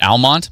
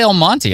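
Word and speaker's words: Almonte: Oh, is it Almont? My bad. What I say? I always say El Monty.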